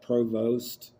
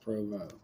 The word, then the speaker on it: Provost: And like I said, it's uh it's spelled like it's Provost and it's pronounced Provo.